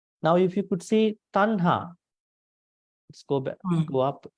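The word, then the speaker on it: taṇhā: It is not tanha, it is tanha. See, you can see over here at this point. This is just T. There's no below T. So we pronounce it tanha.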